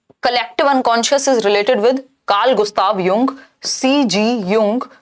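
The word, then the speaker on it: Jung: Collective unconscious is given by Karl Gustav युंग, जिनको लिखते हम जुंग है, बट जो प्रोनाउंसिएशन है वो युंग है।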